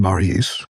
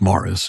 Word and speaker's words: Maurice: The British still pronounce the name that we pronounce in the French form, Maurice, correctly as Morris, and that's true as a surname as well as a Christian name.